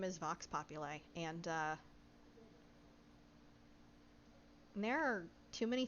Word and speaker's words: vox populi: so it is pronounced vox populi uh like i i don't know how to like chunk it out more than that but like pop you lie and vox it's it's